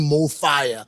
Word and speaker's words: MOFAYA: And the name MOFAYA, why didn't we go with the F-I-R-E? We cannot believe the fire, the way we wrote it, F-A-Y-A, is pronounceable in any language. In Italian, in Isisutu, in Portuguese, in Sitsonga, in Isizulu, Setswana, Sipedi. Everybody, if they were to pronounce this word, it's pronounced the same in any language, in any country, right?